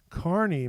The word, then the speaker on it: Kearney: a town called kearney now it looks like it's spelled kearney it's spelled k-e-a-r-n-e-y carney missouri is actually the